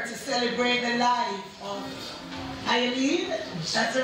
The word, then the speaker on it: Iolene: We're here to celebrate the life of Iolene, that's the right pronunciation, Wilson, affectionately called Aunt Wizzy.